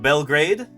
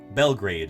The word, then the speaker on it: Belgrade: Boseman where I used to live so Boseman Belgrade not belgrad Belgrade is how it's pronounced in Montana and Manhattan and there's the